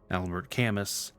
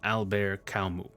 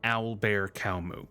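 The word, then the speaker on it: Albert Camus: he's French now going forward even though it's spelled like this Albert cus his name is actually pronounced alar CMU yes it sounds like albear CMU here's Wikipedia actually pronouncing it if you want to hear Alber kamu all right now back to the original video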